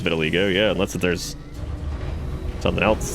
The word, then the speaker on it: vitiligo: We saw somebody who had vitiligo earlier.